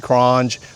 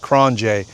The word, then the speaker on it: QRONGE: A lot of people say it's cran krange, but it's actually pronounced kronj.